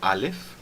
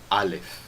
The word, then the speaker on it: Aleph: E o Ayin, antigamente tinha um som diferente do som do Aleph, mas hoje em dia é pronunciado da mesma forma que nem o Aleph, e os dois são pronunciados com aquela parada glotal, então A, tá bom?